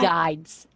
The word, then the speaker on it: guides: He guides my Guides. We pronounce the G.